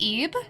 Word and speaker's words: Ib: It's pronounced Ib, but like with a short E. So like Ib.